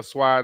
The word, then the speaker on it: swai: So I grabbed couple of boxes of catfish, box of sway or swai, depending on how you want to pronounce it.